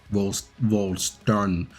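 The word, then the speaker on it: Vollständig: That's how they say it. Volstandish.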